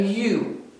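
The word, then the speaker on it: ewe: sheep is a u but it's not spelled y o u it's spelled e-w-e so those two words sound alike don't they you and you but they're spelled different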